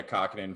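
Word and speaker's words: Kähkönen: Capo Kakkonen, is that how you say it? Oh yeah, Kakkonen from Minnesota, which blows my mind on that one.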